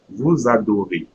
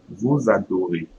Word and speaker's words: vous adorez: Vous adorez. Vous adorez. So EZ in French will be pronounced A.